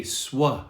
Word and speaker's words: suede: frequent fervent frequent now the next one suede s-u-a swa it has that swa sound prevent persuade persuade prevent